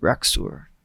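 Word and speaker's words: Rax'ur: The Raxor. Huh? The Raxor. The Raxor? I believe so. That is. how you say it. Raxur is not my name.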